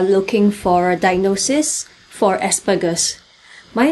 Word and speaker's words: Asperger's: I'll also be pronouncing Asperger's with a hard G instead of a soft G, because that's like the original German pronunciation, but there is no